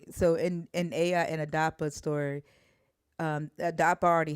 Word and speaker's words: Ea: If you read the Babylonian Aya and Adapa story, it's Aya is spelled EA, and then Adapa is the human in that story, and it's ADAPA.